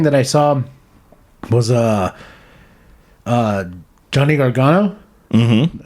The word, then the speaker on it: Gargano: And another thing that I saw was Johnny Gargano. Mm-hmm. I say his name right? Yeah, you said it right.